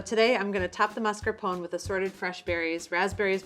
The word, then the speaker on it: mascarpone: This is mascarpone, pronounced mascarpone in Italian.